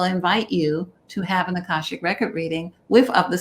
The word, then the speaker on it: Akashic: And I wanted to ask you this last thing about, is it pronounced Akashic Records?